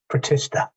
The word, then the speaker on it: Protista: can be animals plants fungi like mushrooms but tishra is that how you pronounce it protista yeah batista and monera what are batista and